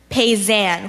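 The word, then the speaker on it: paysan: style can have the word one more time pays an can you say it pays am pays an pays am are there any alternate pronunciations I just have pays an can have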